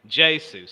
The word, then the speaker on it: Jesus: remember that given that he's Brazilian, he likes to pronounce his name Jesus.